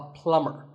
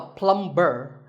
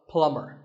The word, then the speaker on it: plumber: You call him a plumber, not a plumber. The B is silent, so plumber.